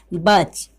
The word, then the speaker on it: batch: तो मैंने यहाँ पे हेडिंग में क्या लिखा है कि शब्द में, यानी कि जिस शब्द में टी के तुरंत बाद, यानी कि जिस शब्द में टी के तुरंत बाद सी एच हो तो उस टी का उच्चारण नहीं किया जाता है।